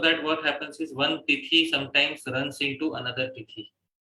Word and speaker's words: Tithi: Titi, time, you know. Tithi. Oh, Tithi.